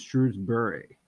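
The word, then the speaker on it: Shrewsbury: stretch out that second syllable if you said Shrewsberry is it Shrewsberry or is it shrewbury properly pronounced it's shrewbury my wife works in one of these it's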